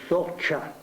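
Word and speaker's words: Soča: si dice in sloveno Isonzo come Come si pronuncia si dice soccia soccia soccia così poi altri processi che ricorda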